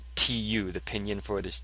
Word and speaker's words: 土: of itself, it means the ground, and it's pronounced 土, tu.